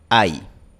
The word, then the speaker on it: hay: Pero la palabra no se pronuncia ahí. Ahí. No se pronuncia como dos vocales en dos sílabas. Se pronuncia en una sola sílaba. Hay.